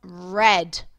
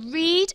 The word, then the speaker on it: read: i am there and instead of reading i have read which you'll find really interesting because it's spelt exactly the same way which means it is a homophone okay so read and read are exactly the same but they are said differently so they are a